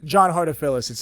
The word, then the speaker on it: Hartofilis: So, I didn't want to butcher your last name, but can you pronounce that for those listening? John Hartofilis. It's Greek. Hartofilis.